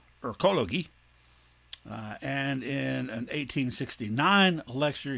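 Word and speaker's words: Ökologie: it in german so it wasn't pronounced ecology it was rather pronounced erkologi and in an 1869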